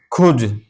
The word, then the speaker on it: could: जैसे खुद, खुद, COULD, खुद। देखिए यहाँ डी से पहले एल आया, या यूं कहिए एल के बाद डी आया, तो अब यह एल साइलेंट है।